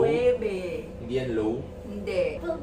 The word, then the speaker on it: Loewe: You say this as Loewe. Not low? Loewe.